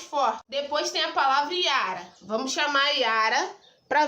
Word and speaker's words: Iara: Iara! Tá vendo que o A, eu fiquei um tempão falando? O A é a minha sílaba tônica.